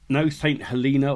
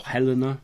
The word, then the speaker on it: Helena: No St. Helena or Helena, depending on, again, where you're from, how you pronounce it, for me.